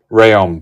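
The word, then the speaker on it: Rhéaume: Rheum, thank you.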